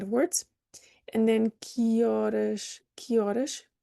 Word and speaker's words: horas: And then que horas, spelling like this in English is common. Horas, no H, why? It's not pronounced in Portuguese.